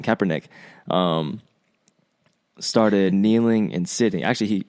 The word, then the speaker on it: Kaepernick: And when Colin Kaepernick, I keep saying neck, I know how to say his name, Kaepernick, started kneeling and sitting.